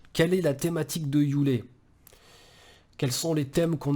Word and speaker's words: Yule: Donc, alors moi je prononce Yule à l'anglaise, hein.